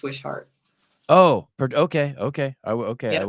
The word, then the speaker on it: Wishart: And then it's Wishart, not Wishart, Wishart. You know what? You can say it either way, but it's like pretend that there's two H's in there. It's Wishart.